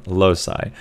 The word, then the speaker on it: loci: with the method of loci or if you're American low sigh so this is a